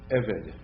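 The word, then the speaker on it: עֶבֶד: year shame and remember the accent on servant on evid is on the first syllable EV the bit is pronounced like a V because it doesn't have a dog issue evid yes what Mel Mel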